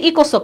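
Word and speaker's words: ECOSOC: সামাজিক পরিষদ বলতে কষ্ট হয় না আমরা বলি ইকোসক মানে সংক্ষেপে খালি একটা প্রশ্নই পড়বো আমরা মেম্বার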